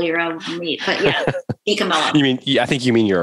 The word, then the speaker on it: DiCamillo: DiCamillo? Yeah. It's just how it looks. It is how it looks. People want to sometimes make those L's silent, in Italian, you say the L's. So DiCamillo.